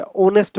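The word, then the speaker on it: honest: तो इनके साथ तो क्या लगता है, देखो एच से शुरू हो रहे हैं, हालांकि शुरू एच से हो रहे हैं, लेकिन जो प्रोनाउंसिएशन है वोबल की है, ऑनेस्ट बोल रहे हैं, एयर बोल रहे हैं, आर बोल रहे हैं।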